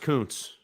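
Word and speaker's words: Kuntz: Zach who seconds Coons it's pronounced Koontz it sure is I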